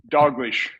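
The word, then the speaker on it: Dalgleish: Uh I don't know how do you pronounce his last name, Angus uh Doglish. Dogish dogish.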